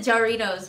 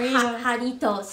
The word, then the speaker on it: Jarritos: I called it Jarritos, but that's not how you say it.